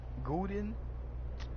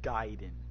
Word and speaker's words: Guiden: Gooden? Bro, my name is not Gooden, bro. Guiden. It's Guiden.